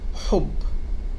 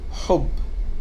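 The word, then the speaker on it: حُبّ: means protection in arabic when we have it with dhamma it sounds like for example in a word like hob hob which means love in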